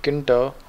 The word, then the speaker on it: Tkinter: it's all actually spelled Kinta because the T is silent import stops and you